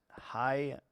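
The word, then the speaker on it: hyphae: that we should have it's pronounced High F okay okay I will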